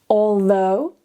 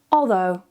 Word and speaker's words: although: Although. Although.